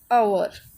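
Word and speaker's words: hour: आवर, ठीक है। यहाँ पर एच जो लेटर होता है वो साइलेंट होता है और पढ़ा किसको जाता है?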